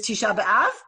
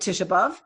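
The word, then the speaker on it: Tisha B'Av: on Sunday which is tshaba um or as my grandparents would have called it Tish um which which rhymes with the word love in English you can imagine where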